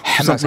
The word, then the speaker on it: Hamas: Hamas, oui, en arabe, oui, c'est sûr, oui, c'est le mouvement de résistance palestinien et c'est un H, c'est pas la Jota espagnole, hein.